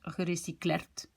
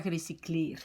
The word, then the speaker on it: gerecycleerd: Mais ici, je dois rajouter un E, sinon je prononce gerecyclerd. Et pas gerecycleerd. Syllabe ouverte et fermée.